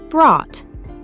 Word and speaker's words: brought: They all have that same deep vowel sound followed by a silent GH and a sharp T. Thought, bought, caught, brought.